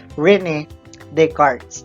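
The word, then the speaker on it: René Descartes: Cartesian plane or Cartesian coordinate plane because of Rene Descartes so how do you pronounce it again you pronounce it as Rini Descartes so Rene Descartes is a French mathematician and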